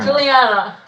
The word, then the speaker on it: Juliana: name is that it Juliana three syllables okay tell me try